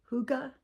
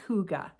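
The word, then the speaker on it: hygge: how to say this is it Huga h y g g you know yeah it's like hi but it's yeah but I think it's Huga y burst blanket and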